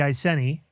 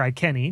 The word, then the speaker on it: Iceni: of the iceni or i kenny depending on how you want to pronounce the word uh stemming from the time when latin was a predominant language and the hard c was used there and she was a